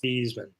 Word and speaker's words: Theismann: Michael says Theismann changed his name to rhyme with Heisman. Yeah, it was Theismann.